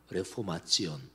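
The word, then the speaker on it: Reformation: 만일에 그렇게 이해된다면 종교 개혁이 영어로는 레포메이션, 독일어로 뭐 그 스펠링까지 똑같습니다. 다만 읽는 것만 레포마치온. 근데 1500년대, 1600년대, 1700년대까지도 상당히 라틴어가 식자들이 실제로 쓰는 언어였습니다.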